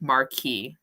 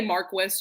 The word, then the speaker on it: Marquess: which is the best Marquee I think that's how you say marquis armor Quest I say marquis just because that's how the British say it but okay and then